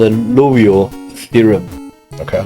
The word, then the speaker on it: Liouville: Liouville theorem. Louville. Liouville equation. Not Lavelle theorem. Liouville.